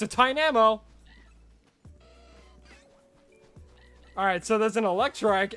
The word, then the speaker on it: Tynamo: No, it's not meant to be like Tynolmo, because there's no L. Tynamo. Tynamo.